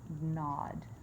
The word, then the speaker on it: gnawed: Gnawed. The G is silent.